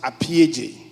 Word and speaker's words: Appiagyei: you my last name my last name is pronounced AJ AJ AJ trust me you will